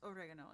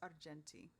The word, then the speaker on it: Argenti: And it is not oregano, it is Argenti.